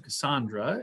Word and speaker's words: Cassaundra: We'll turn it over to Cassaundra, is the correct pronunciation.